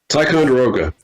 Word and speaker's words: Ticonderoga: Carrier Strike Group 1, which consists of the Ticonderoga, how do you say that? Ticonderoga? Ticonderoga.